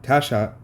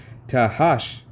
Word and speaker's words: Tahash: tabon and and Gamma and gam Han and Tasha and Slovakia mispronounced his name tahash and Maha all right hey these are just